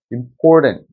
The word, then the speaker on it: important: 그래서 뒤에 강세를 보시면 여기 보면 알파벳 A가 있지만 여기 발음기호에서는 아예 자음이 사라졌죠. 이런 경우는 슈아 발음도 아예 나오지 않도록 모음이 그냥 퇴색돼 버린 경우예요. 그만큼 모음이 약해지니까 아예 사라져 버리는 거죠. 왜냐하면 강세가 없기 때문에 분명히 여기 알파벳 A가 있지만 여기는 슈아 발음 아예 모음조차 없죠. 그냥 튼하고 끝나잖아요.